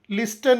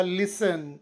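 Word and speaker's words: listen: ಬರುವಾಗ ಸೈಲೆಂಟ್ ಆಗಿರುತ್ತದೆ ಉದಾಹರಣೆಗೆ ಲಿಸನ್ ಎಲ್ಐಎಸ್ಟಿಎನ್ ಇದೆ ಬಟ್ ಇದರ ಉಚ್ಚಾರ ಲಿಸ್ಟನ್ ಅಲ್ಲ ಲಿಸನ್ ಡಬ್ಲ್ಯೂಎಟಿಸಿಎಚ್ ವಾಚ್ ಸೈಲೆಂಟ್ ಡಬ್ಲ್ಯೂ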